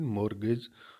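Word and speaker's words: mortgage: आता है तो उसको मोर्गे इस स्टेज साइलेंट होता है वोट के जो होता है लेकिन मोरगेज बोला जाता है मोरध्वज का कॉन्ट्रैक्ट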